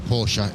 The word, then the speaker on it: Porsche: No, it's a Porsche. It's a Porsche. It is a Porsche.